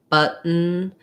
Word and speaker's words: button: So for both of those words, mountain, button, what I do there is a stopped T. So I don't leave it out.